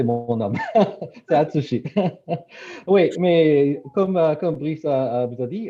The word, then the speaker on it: Atsushi: Oui, c'est vraiment difficile de prononcer mon nom. C'est Atsushi.